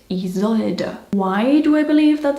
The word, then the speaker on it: Isolde: And you say it Isolde.